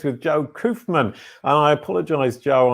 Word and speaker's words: Koufman: today it's with joe coofman and i apologize joe i said your name wrong last week i said kaufman uh and you'll see